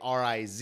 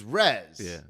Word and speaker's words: Tyrez: I first met you I was thinking RZ like R Iz yeah yeah and that's not right no it's Rez so I because I